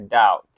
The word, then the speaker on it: doubt: Bacanya doubt. Ya, bukan doubt, tapi doubt. Ya, B-nya juga nggak dibaca, guys.